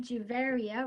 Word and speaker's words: Juvarya: I am Juvarya, rhymes with Bavaria, and I'm Director of the Canada Climate Law Initiative.